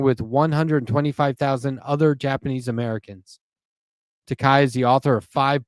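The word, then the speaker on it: Takei: His book is called George Takai. It rhymes with Tai.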